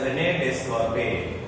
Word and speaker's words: René Descartes: So written as René Descartes, but pronounced as René Descartes, developed coordinate geometry.